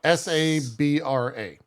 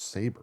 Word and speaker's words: Sabra: power but I'm saying like s-a-b-r-e like no s-a-b-r-a hey yeah guys I know how to pronounce saber what her name's saber Sabra here's all I'm